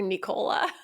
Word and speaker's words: Nicola: It's like when we couldn't pronounce Nicola Peltza's name correctly, we called her Nicola. Nicola, like Ricola, like the cough drops.